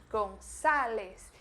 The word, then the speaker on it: Gonzales: Mas presta atenção na pronúncia, porque ele Gonzales se escreve com la Z e la A é uma A mais aberta, Gonzales. Então o A do espanhol é bem aberto e por isso a gente tem que pronunciar ele com a boca mais aberta do que a gente normalmente pronuncia em português, beleza?